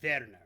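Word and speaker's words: Werner: Bjorn Warner okay and it would probably be pronounced verer but yeah whatever German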